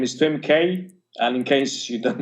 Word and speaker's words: Tuemckey: Tuemckey, yeah. I had it right, but yeah, you know, I'm bad with names. Nobody pronounces it right, even I don't pronounce it